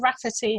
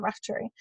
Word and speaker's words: Raftery: uh but yeah so they said rafferty instead of raftery so i or maybe